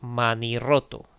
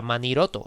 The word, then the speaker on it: manirroto: Manirroto, pues de mano y roto tenemos manirroto, que se escribe con dos R's porque si no la R no suena fuerte, si no sería maniroto y es manirroto, ¿vale?